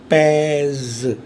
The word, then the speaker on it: pèse: So to make it rhythmic and it may be pronounced, अगर मैंने ई पे grave accent लगा दिया, सो ई को मुझे ए बोलना पड़ेगा. So that means j pèse. See, it's so beautifully phonologically structured, this language.